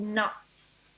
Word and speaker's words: Knots: Yes, the album currently is called Knots. Knots. Yeah, like knots. Like okay, like with a K, but a silent With a K, not an N. Right. Yeah. Okay, a silent K knots.